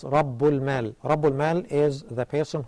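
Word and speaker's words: رب المال: The words taken together are pronounced as Rabbul Mal.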